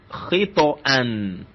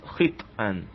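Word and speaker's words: خطئا: So you have to pronounce it to be khito and not khit'an.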